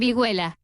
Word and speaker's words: vihuela: I think think Zeph has the pronunciation. I think the H Do is you? silent. Vihuela.